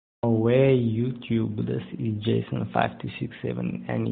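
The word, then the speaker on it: awe: it's slang in Afrikaans, spelled A-W-E, pronounced aware, not R, it's aware.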